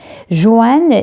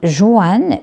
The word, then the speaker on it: Joanne: Joanne, il a deux prononciations. Soit on dit Joanne, soit on dit Joanne. Donc, les deux sont possibles.